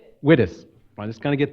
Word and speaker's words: Wittes: Our special distinguished lecturer today is Tamara, and is it pronounced Wittes? Wittes.